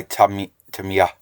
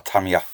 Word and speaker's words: Tamiya: Right, what I'm going to use here before I use the pastel is a panel line by Tamiya, or Tamiya, however you want to pronounce the company name.